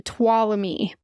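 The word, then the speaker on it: Tuolumne: Facebook page they said you say follow me to twam me follow me to twam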